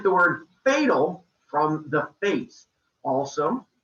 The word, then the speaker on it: Fates: from the face also good job not mispronouncing this one i've had a number of kids who try to make it sound greek and they call them the fatis or even i've heard the fatties and i'm like no